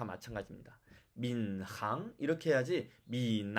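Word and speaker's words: 闵行: 자 여기에 살고 있는데요 그 글자의 두 글자의 발음을 한번 보죠 4 미나 은 이렇게 h 발음이 비운 렌과 모아 사이에 섞여 있으면 4 미남 이렇게 나겠죠 이 발음이 맞을까요 4 많은 분들이 교과서를 보면 이렇게 써 있으니까 이게 만다고 바 생각하실 수 있겠습니다 자 그러면 틀린 예 또한 볼게요 미 남 안 됩니다 이렇게 발음 하지 않습니다 그 정확한 답은 민 항 입니다 민 항 알겠죠 자 그리고 민 남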